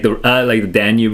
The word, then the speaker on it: Danube: I uh, yeah, like the Danube River. Is that how you pronounce it?